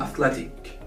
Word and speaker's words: athletic: In the case of the adjective, we spell E as a.